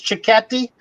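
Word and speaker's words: cicchetti: are enjoying the uh chris how do we pronounce that so this it's chicati it doesn't really have much to do with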